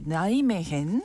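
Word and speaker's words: Nijmegen: 나이메헨. 네이메겐. 네. 저는 발음이 좀 어렵죠.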